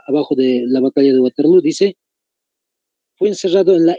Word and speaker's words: Waterloo: simplemente es doble o waterloo se pronuncia waterlo pero es doble o al final dónde se va a